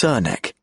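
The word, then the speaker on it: Srnicek: Mark emphasizes the pronunciation of Cernicek as Cernek. That's how we pronounce it, which is from the horse's mouth.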